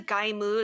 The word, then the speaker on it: Gaim: Is that how it's pronounced? Gaim? Gaim. Gaim? It's actually Gaimu.